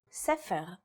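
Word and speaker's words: ספר: In the word for book, or sefer, it's pronounced with a f sound.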